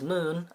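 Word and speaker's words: Muun: But Plagueis' species is Moon, pronounced M-U-U-N, and is rumored to be from Megiddo.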